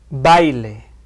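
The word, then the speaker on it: baile: 자, 강음 강이 올 때는 어디에 강세를 주나요? 당연히 강모음에 강세를 주고 있겠죠. 그런데 양모음과 양모음이 올 때는 뒤에 오는 모음에 강세를 주고 있습니다. 자, 한번 들어 보실까요? 바일레 아우라 다.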